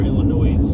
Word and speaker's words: Illinois: Well, there's an S in it, but you don't pronounce it's it. It's a silent S.